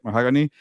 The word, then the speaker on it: Mahogany: How do you say Mahogany? There you go. It's like a color, right? Mahogany.